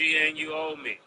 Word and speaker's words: Anunoby: Am I pronouncing his name right, Murder? No, it's OG and you owe me.